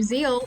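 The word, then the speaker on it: Zexal: I've also heard that some people say the X isn't meant to be pronounced so because the theme of Yu-Gi-Oh Zeal is that the character is full of zeal and that was the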